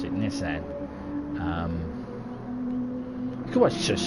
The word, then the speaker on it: Nissan: Now, is it Nissan or is it Nissan? How would you pronounce it? I know the Americans pronounce it Nissan. We pronounce it Nissan.